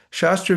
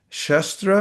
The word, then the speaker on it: shastra: a Sanskrit word shash, which can either mean shastra or shastra. You can pronounce it with a long or short A.